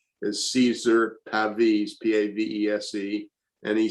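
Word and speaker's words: Pavese: one from an italian poet whose name my pronunciation will probably be wrong is caesar pavis p-a-v-e-s-e and he said and this i love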